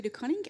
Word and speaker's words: De Coning: much uh so yes my name is De coning I joined the unfc in September um I